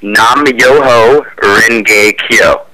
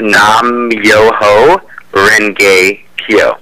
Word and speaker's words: Nam Myoho Renge Kyo: It's pronounced. You say Nam Myoho Renge Kyo. It's a Nichiren Daishonin version of chanting, and again, it's Nam Myoho Renge Kyo.